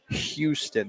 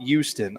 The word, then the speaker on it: Houston: I mean, first off, Kevin, it's Houston, not Houston. I do not understand why these Northern Yankees while they they pronounce our Fair City or such a way.